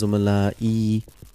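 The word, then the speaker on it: زملائي: Because of this ya, zumala'u is pronounced as zumala'i. Ya turns into kasra.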